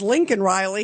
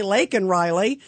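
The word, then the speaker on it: Laken Riley: saying say her name and then he says Lincoln Riley he doesn't say lak and Riley uh but then they were kind of going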